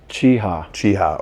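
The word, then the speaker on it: Cheaha: How do you pronounce this? Cheeha.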